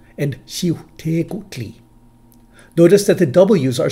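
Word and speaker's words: Xiuhtecuhtli: In the second, the W and Q end the first and second syllables respectively, and the letters are reversed to U-H-U-C.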